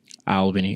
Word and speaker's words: Albany: Because there's not as much as people say oh, Albany's trash.